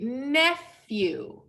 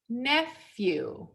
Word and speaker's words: nephew: together the sound is so this is actually nephew nephew then we have cousin we have in-laws and